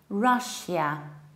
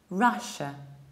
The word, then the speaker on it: Russia: I usually hear Russia with very strong shia, whereas there is no yot there. We say Russia, Russia. Forget about yod, forget about shia, forget about strong sh.